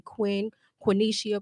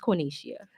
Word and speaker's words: Quinicia: So a lot of people say Quenisha, Quinshia. I'm like, just call me. See? So There it so is. many different names and pronunciations, and So sometimes I'm just like, hey, just call me Quinn, but it's Quinicia. Well, It's Quinicia. Yes.